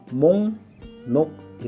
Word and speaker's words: 목록: 뭐 록 기록해 있어서 쓸 수도 있는데요 이건 발음을 몸 녹이 라고 해야 합니다 자 여러분들이 보통 회사에 출근하면